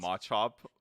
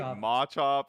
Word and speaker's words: Machop: chris and i like realizing that we're saying machop like differently yeah like they're like is it what is it is it machop is it mate like is it ponyta ponita